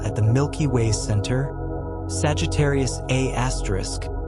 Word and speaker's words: Sagittarius A*: The supermassive black hole at the Milky Way center, Sagittarius A*, pronounced A*, contains about 4.2 million solar masses compressed into a region smaller than Mercury's orbit.